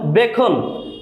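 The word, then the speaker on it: beckon: যেমন বেখন বেখন মিনস সংকেত এখানে সি এর উচ্চারণ হয়নি খে এর উচ্চারণ হয়েছে বেখন সেন্ট সেন্ট মিন্স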